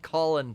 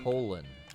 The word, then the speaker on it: Colin: as colin farrell and it's spelled the same way as colin firth colin kaepernick and uh colin jost and colin hayes i mean all of them spell it the same yeah but this this went by colin he went by colon you know what i'm